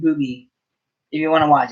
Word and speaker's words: RWBY: Ruby is spelled RWDY, no E. RWBY. RWBY, Ruby.